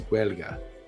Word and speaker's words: Gaeilge: Pronunciation of the Irish language is Gaeilge.